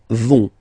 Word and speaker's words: vont: Ils, elles vont. Ils vont. Elles vont. Okay, remember, final T not pronounced, so you get this ON nasal here.